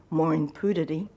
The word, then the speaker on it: Maureen Pereira: kahung he married her maureen pereira of which she grew up as pronouncing mooring puddity married my father maureen box and on the 29th of june 1982.